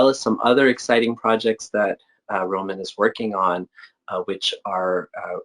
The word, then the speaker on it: Roman: You pronounced Roman.